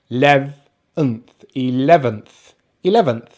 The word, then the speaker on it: eleventh: end so this has this word has three syllables the second syllable was the stressed syllable the first syllable is just a short vowel sound second stressed syllable is lev so we have the short vowel sound air as in pet and then we finish with the weak syllable so we have the schwa the letter n and the th so we have e 11th 11th so getting to the